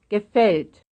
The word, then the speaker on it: gefällt: Gefällt. Gefällt. It's like the second syllable.